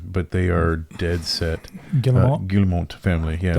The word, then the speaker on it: Guillemot: Guillemot family. Yeah, it's French. Right? Yeah, it's French. I'm almost mad at myself. I said it right.